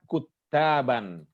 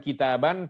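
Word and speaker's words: كُتّابًا: kata itakodza ada kata kuttaban hati-hati bacanya itu bukan kitaban tapi Kuttab Kuttab itu jamak dari Katib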